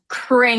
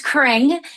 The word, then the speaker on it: Cring: It's pronounced Cring like Chris Kringle. Though it's spelled with a C. I've gotten everything else, but it's Cring.